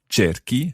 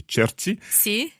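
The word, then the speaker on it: giochi: an h in there just so that the c sound stays strong cherokee as opposed to churchy okay this happens with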